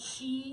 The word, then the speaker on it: Qi: something on it called Chi wireless charging it's not it's spelled Qi that's how they spell Chi but it hasqi wireless